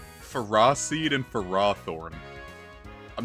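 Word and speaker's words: Ferroseed: you know how the the official pronunciation according to Pokedex 3D a phosed and Ferrothorn is pronounced Ferra seed and Ferrothorn I'm not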